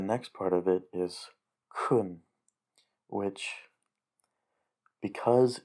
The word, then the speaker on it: chun: Well, the next part of it is kun, which, because it's pronounced like the ch in look instead of